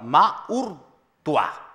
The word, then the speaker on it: Maurtua: Maurtua. Perfecto. Bien pronunciado, entonces, para quienes ahora nos están viendo